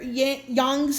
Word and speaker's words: Yang: so we have here young's um ld ability fyi i will be interchanging pronunciation for yong because it's like some people pronounce them as young some people pronounce it as yank so to be honor